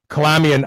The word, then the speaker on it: Kalamian: next guest is just such a person Colombian I am pronouncing your name properly is that correct I'm